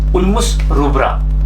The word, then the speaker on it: Ulmus rubra: was Alma's problem or Ulmus rubra you pronounce it like UL mus bull moose rubra ru b ra a